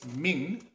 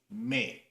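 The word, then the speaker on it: 明: arrive at the word in Chinese Ming or in the Japanese pronunciation May now the historical significance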